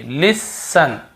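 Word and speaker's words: listen: को नहीं पढ़ देखिए लिसन लिसन लिसन यहां पर भी टी नहीं पढ़ रहे हैं ऑ फन ऑफ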